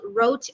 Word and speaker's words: rote: reading that's not memorization that's actually called rote repetition so it's spelled r-o-t-e um and it's a fancy word wrote just a fancy word